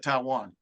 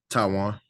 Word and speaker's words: Tywone: How do you pronounce that? Taiwan. Taiwan, same thing.